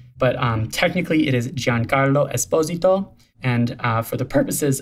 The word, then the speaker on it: Giancarlo Esposito: should all be saying giancarlo esposito is my italian best attempt at my proper italian pronunciation as john carlo is